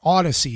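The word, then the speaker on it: Audacy: Acy Odyssey app or Odyssey is how they pronounce it but i' like to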